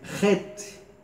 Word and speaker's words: het: Muito bem, het, tem um som do CH como em Bach, né?